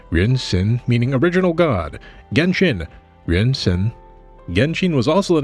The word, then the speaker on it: Genshin: The name Genchin itself is a specifically Japanese pronunciation of the game's Chinese name, Renin, meaning original god. Genshin renin.